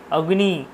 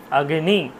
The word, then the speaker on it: অগ্নি: কিন্তু আমরা কি বলি অগ্নি অগ্নি প্রজ্লাতি অগ্নি আমাদেরও কথা আমারও কথা চলে আসে অনেক সময় বলে ফেলি আগ্নি প্রজ্জবলাতি ঠিক আছে অগ্নি অগ্নিসুক্ত অগ্নিসুক্ত পড়েছি অগ্নি কিন্তু না আসলে ব্যাপারটা উচ্চারণ হবে আগ্নি আমরা যে ভুলটা করি